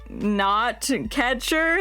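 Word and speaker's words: gnatcatcher: It rhymes with gr. Yeah. The name of that bird was the blue gray knot catcher.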